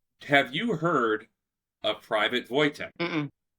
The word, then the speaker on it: Wojtek: I think it's Vo Voytech. Yeah, you are.